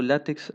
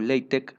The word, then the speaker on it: LaTeX: con látex por cierto yo estoy pronunciando látex aunque la pronunciación oficial es látex o leite porque está x en realidad viene de la letra griega pero aún no puede